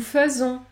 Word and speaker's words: faisons: Enfin, les lettres AI peuvent se prononcer E, dans les mots dérivés du verbe faire, comme par exemple nous faisons, bienfaisant, bienfaisant.